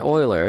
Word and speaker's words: Euler: quaternion um now what I mean by an Oiler if you're unfamiliar looks like Euler but it's actually pronounced Euler is a value like say 45